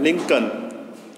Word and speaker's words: Lincoln: Answer है Abraham लिंकन, ABRAHAM, Abraham लिंकन, LINCOLN, L इसमें silent रहेगा, लिंकन।